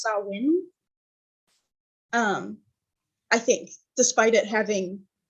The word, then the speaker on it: Samhain: I believe it's pronounced Samhain, despite it being spelled Samhain.